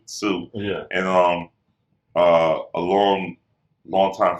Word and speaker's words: Tsu: And it's spelled like TSU, Sue.